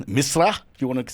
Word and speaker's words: Misra: Aryaan is his name, Misra, if you want to say it correctly.